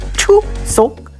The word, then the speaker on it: Chuseok: I had arrived during Chuseok. Pronounced Choo-seok. Two syllables that carry 2,000 years of meaning.